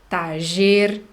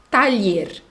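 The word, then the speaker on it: taller: tardier mecânico de novo é uma palavra que se escreve com dobrei ele nós podemos ler Dire tá dizer thacher tagger Tyler tá essas são as possibilidades então oficina tradução escritório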